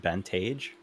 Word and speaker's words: Bentage: And so it looks like he says his name's pronounced Bentage. Bentage.